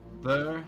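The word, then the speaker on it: Bheur: Sea Hags, Anise Hags, Green Hags, Ver Hags, which is spelled B-H-E-U-R, Night Hags, and Dusk Hags.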